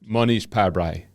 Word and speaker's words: Mohnish Pabrai: How did you pronounce it? Mohnish Pabrai.